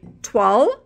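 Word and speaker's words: toile: image was Queen's Churchill now this is a 12.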